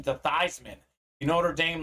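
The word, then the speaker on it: Theismann: name his pronunciation to Theisman you Notre Dame like PR guy so it was Theisman for the Heisman okay so his name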